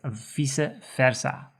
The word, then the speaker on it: vice versa: Sarah edemdito and also the term vice versa is used in the Dutch language but it's pronounced as visa versa then pro forma so